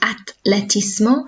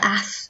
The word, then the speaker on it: atletismo: Then we have athletics, el atletismo. So don't say el ath because there's no H there. El atletismo.